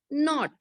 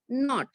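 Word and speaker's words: knot: K-N-O-T, not. When K and N, both the letters come together, then the sound of K is silent.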